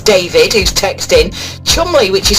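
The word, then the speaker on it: Cholmondeley: though and chun li says david who's texting chumley which is spelled chalmundly is in cheshire of course yeah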